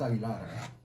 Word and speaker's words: Aguilar: Yeah, it's Aguilar. You want me to spell that for you?